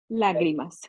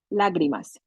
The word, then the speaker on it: lágrimas: And one of the songs I used to play was called Lagrima. Lágrimas. Lagrima, yeah. The accent is in the first syllable. Lágrimas.